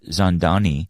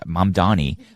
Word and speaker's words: Mamdani: they feel about uh Zandani or Mom Donnie. I keep getting his name wrong.